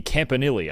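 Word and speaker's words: Campanile: It's Anthony Campanili. I've been saying it wrong before that, but I watched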